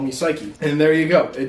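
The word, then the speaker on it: Saiki: And then I put a pronunciation for Psyche to like make it easier to pronounce because it's spelled S-A-I-K-I. So you could say like Seiki or yeah, like, so you wouldn't necessarily think of it.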